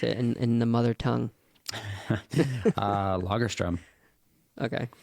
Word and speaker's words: Lagerström: Tell me about the etymology, if that's the right word, of your last name and how you would pronounce it in the mother tongue. Lagerström.